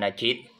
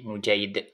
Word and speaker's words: Nujaid: ke-22 qiduni wa Jim dengan mendamahkan Nun dan memfatahkan jimnya nujaid ya jadi bacanya bukan Najid ya tapi nujaid dan abu nujaid adalah